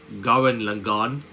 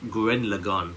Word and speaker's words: Gurren Lagann: Simon the Digger from Garin Lagon. Grin Grin Lagon. Sorry, that's how you pronounce it. I think Grin Lagon versus Kyle Raina um, from White Lantern.